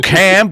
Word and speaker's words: Kam: by Craig a Miller professionally known as cam W cam but it's spelled Kam yes although Craig was spelled